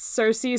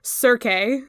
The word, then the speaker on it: Cersei: about hearing somebody mispronounce Cersei so wrong on a podcast or something it's either Cersei or kir you cannot say cir that is just so incorrect yeah so like that's